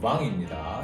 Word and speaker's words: vin: 하지만 여러분 현재 가시는 뱅이 아니라 왕입니다. 예를 들어서 레스토랑에 가셔도 어 그 와인리스 좀 주세요 할 때도 실브레이라고 표현을 하죠. 그래서는 발음으로 주문을 해주시면 됩니다. 여러분이 아니고 왕이에요. 그래서 여러분들 잘 읽고 계신 뱅존이라는 와인도 사실은 왕존가 많고요.